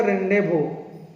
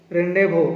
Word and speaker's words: rendezvous: एटा किंतु प्रोनाउंस करा जिवो रेंडेवो, रेंडेवो, किंतु एटा माने स्पेलिंग टा होची RENDEZVOUS 2018 आसला।